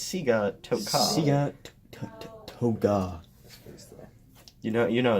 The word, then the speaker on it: Sigatoka: Cigatoga? Yeah, I think you guys are pronouncing it Cigatoga? wrong. I think it's Cigatoga. Sigatoga. Sigatoga. No, it's Sigatoka.